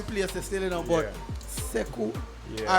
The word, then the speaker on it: Sekou: So would be my left, we have Stacey Wilson from the Wilson Law Firm, and we have, and it's pronounced Sekou.